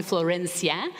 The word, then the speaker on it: Florencia: me flow you can call me Floyd if you cannot roll your ass you can call me Florencia I've heard my name